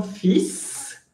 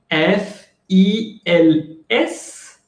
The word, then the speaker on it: fils: Attention, c'est une exception de prononciation. Oui, ça s'écrit F. I-L-S, mais la prononciation c'est fils. Recuerden que es una excepción de pronunciación. Si se escribe F-I-L-S y que normalmente se debería escribir fil, se debería decir fil, pero es una excepción y se dice fils.